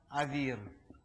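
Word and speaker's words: אוויר: значит свет произносится ор если в это слово Свет включается буква юд то это уже называется воздух и произносится Авир то есть это как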